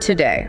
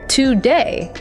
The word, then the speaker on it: today: A learner might say to day, giving equal weight to both parts. But a native speaker puts all the stress on the second syllable day. So the first syllable, the two gets reduced. It becomes a weak quick schwah. It sounds like today.